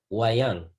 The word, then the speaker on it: wayang: I want you to be able to pronounce it. It's called wayang.